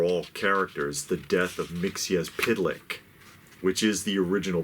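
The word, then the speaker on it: Mxyzptlk: all people or all characters the death of mixia's pidlick which is the original pronunciation of the name Mixie as PID lick four syllables because I know people are always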